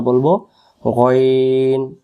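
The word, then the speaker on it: غين: এইযে লক্ষ করেন এইযে এরকম আমরা এটাকে অনেকে গাইন গাইন পড়ি গাইন উচ্চারণ নয় এটাকে আমরা বলব গন আবার বলেন গন গন পেশ গু গনজের গন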